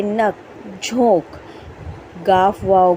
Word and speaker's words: झांक: लेकिन हम पढ़ेंगे झांक।